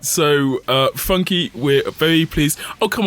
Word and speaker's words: FUNKe: websites he goes by funky on like most other things people who don't know how to pronounce it call it funk which is like at